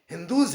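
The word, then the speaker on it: Indus: क्योंकि इंग्लिश में यहां पर एच साइलेंट है, इसलिए एच साइलेंट होने के कारण हिंदूज पढ़ा। कुछ लोगों ने इंडूज कहा, कुछ लोगों ने इंडस कहा। ये इंडस नहीं, हिंदूज है।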